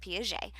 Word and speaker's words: Piaget: And this is by Jean Piaget, who is French. So you pronounce it Piaget.